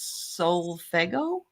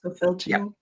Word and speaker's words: solfeggio: Rossi says she sometimes sleeps with these solfego frequencies. Are you familiar with these? I think it's called solfeggio. It's pronounced solfeggio.